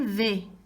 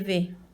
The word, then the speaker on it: vais: Je vais. Se escribe vais, ¿verdad? Pronuncio V. Je vais.